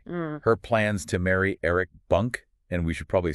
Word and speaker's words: Bunke: M her plans to marry Eric Bunk. And we should probably say it's usually pronounced Bunker.